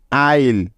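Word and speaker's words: isle: Iceland কিন্তু এটা হলো সম্পূর্ণ ভুল উচ্চারণ সঠিক উচ্চারণটা হলো আইল্যান্ড আরো কিছু উদাহরণ দেখো যেমন আইল এ আই এস এল আইল আই এস এল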